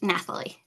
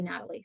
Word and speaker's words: Nathalie: get it right yes Nathalie thank you Nathalie that's um I I'm sure you get this a lot but my brain wants to say Natalie so Nathalie I will do my